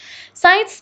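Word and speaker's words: science: ही अहम सब्जेक्ट है साइंस में सी जो है वो एक साइलेंट लेटर है इसको हम लिखते हैं लेकिन इसे बोलते नहीं है वॉक वॉक हम चलने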